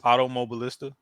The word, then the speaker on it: Automobilista: did in the game all right so it's automobilista ams2 yep okay because I was pronouncing it all wrong continue yeah they recently